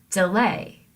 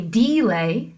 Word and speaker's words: delay: So our example of an iamb is the word delay, right? You don't say delay, you say delay.